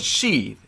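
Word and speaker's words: sidhe: The word, the Irish word for fey is she. It's spelled S-I-D-H-E, right? She, you've heard that, like banshee kind of thing.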